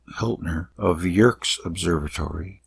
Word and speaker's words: Yerkes: Hiltner of Yerkes Observatory, actually it's Yerkes, Wikipedia says to pronounce it that way, Yerkes Observatory found that the light from certain stars is strongly polarized.